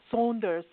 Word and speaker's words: Saunders: And actually, it's Saunders is how you actually pronounce it.